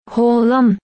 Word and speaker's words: Haaland: Esa letra que no solemos ver en realidad no suena tanto como una A. Esta letra se pronuncia O. No estoy de coña. Haaland.